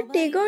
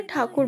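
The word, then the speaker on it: ঠাকুর: तो फर्स्टली मैं रविंद्रनाथ टैगोर ना बोल के रविंद्रनाथ ठाकुर बोल रही हूँ, क्योंकि उनका ओरिजिनल सरनेम है ठाकुर और ब्रिटिशर्स ठाकुर प्रोनाउंस नहीं कर पाते थे, इसीलिए बोलते थे रविंद्रनाथ टैगोर।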